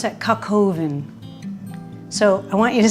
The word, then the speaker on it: coq au vin: French do chicken stew I'd like you to pronounce that coq au vin so I want you to say I've made